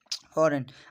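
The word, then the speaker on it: foreign: फॉरेन, अब इसमें भी देखें जो जी है वो साइलेंट है।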